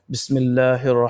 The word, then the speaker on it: بِسْمِ اللهِ: Ba sin zir bis, mim lam zir mil. We are spelling the letter. Mim lam zir. Mim is connecting with the lam. Mim lam zir mil. Lam khadi zabar la. Ha zir hi.